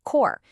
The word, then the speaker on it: corps: And definitely remember to pronounce it core. Those P and S letters are totally silent.